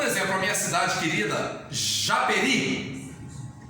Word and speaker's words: Japeri: Por exemplo, a minha cidade querida, Japeri. Japeri não é acentuada, essa palavrinha, porque a sílaba tônica dela está no i. Japeri, ri. Você não fala Japeri, você não fala Japê, você fala Japeri. Eu sei que a sílaba